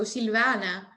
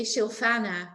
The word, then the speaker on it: Silvana: my name in English it's Italian originally so Silvana and in Dutch they say silana which is pretty ugly but okay um it's very pretty